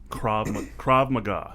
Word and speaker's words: Krav Maga: So I've always heard of Krav Maga. That's how you pronounce it, correct?